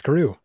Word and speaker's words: Carew: It's Carew. Is C-A-R-R. It? C-A-R-R. Is it two syllable?